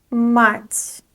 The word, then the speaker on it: мать: The next word is мать. Мать. There is a soft sign at the end, so we pronounce soft t.